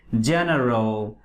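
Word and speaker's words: general: এবং এরপরে আমরা দেখি আরেকটি জিওলজি, ওকে, জেনারেল, জেন্ডা। তাহলে এই শব্দগুলো সবসময় কিসের মতো? জয়ের মতো উচ্চারিত হচ্ছে।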